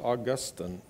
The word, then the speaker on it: Augustine: to to teach us Augustine actually probably more properly pronounced Augustine but Augustine said something